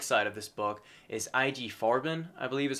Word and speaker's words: IG Farben: kind of drug side of this book, is IG Farben, I believe is how it's said and pronounced.